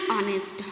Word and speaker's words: honest: here honest means see here honest before that honest we have used honest kinta munchina meanwhile we have used an because here the pronunciation of honest is very important so here we are using an honest honest and the pronunciation we are pronouncing here